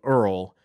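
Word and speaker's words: Erle: with lawyers is call the guy's name is earl stanley gardner and you might have heard of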